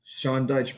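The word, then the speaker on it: Sean Dyche: well uh their manager sean dykes his name shawn deutsch bro big sense yeah that's how you pronounce it yeah exactly his son uh perfectly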